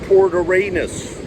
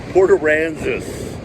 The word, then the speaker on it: Port Aransas: I say it correctly, Port Aransas. It's like Kansas. I think before I've said Port Aransas. No, it shouldn't be said that way. Port Aransas, like Kansas.